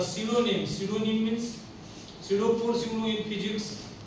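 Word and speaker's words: pseudo: news London bye अ सिडोनिम सिडोनिम means force in physics physics मध्ये पी पासून start होते पी एस इ यु डी O spelling is सिडो पी एस इ यू डी ओ सिडो force सिडोनिम सिडोनिम means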